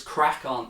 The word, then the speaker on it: CRAiCON: And if you're just searching for the channel, it's Crack On, and that's spelled CRAICON. All one word.